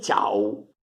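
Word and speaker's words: ciav: Le ciao. Ciao, voi vedete che si legge U, perché a fine di parola la V si legge U, in quasi tutte le varietà di piemontese.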